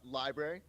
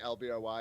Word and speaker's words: LBRY: i am interviewing right now the ceo of elbury um i think that's how it's pronounced how do you pronounce it uh library library you can also just say lbry is also totally fine but library all right